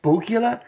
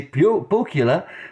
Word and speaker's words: Pohjala: Today we have Pohjala, and that's the way it is pronounced. I am 100% sure because I watched a YouTube video and the guy from the brewery did say Pohjala, so I know it's Pohjala pronounced.